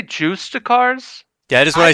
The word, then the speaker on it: Justicar: Justicars, right? Justice Shar. Is that actually how you say it? Any of my OSRS homies will agree. I'm looking at you, Man. Jill. Yeah, I see you're in chat. I mean, it's Justice Shar for sure.